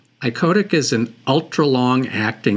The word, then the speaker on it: icodec: called insulin ioic spelled i o d c iotic is an ultra long acting insulin that only